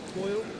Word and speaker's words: Boyle: Like the whiskey. Boyle? Something you think of Boyle, isn't it? Yeah, Boyle, Morag and Boyle. B-O-Y, yeah, Boyle.